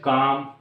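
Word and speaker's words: calm: जाता है silent L एल के बाद कोई भी अगर कंसोनेंट आ जाता है तो एल ऑटोमेटिक खामोश हो जाता है जैसे सी ए एल एम काम डब्लू ए एल के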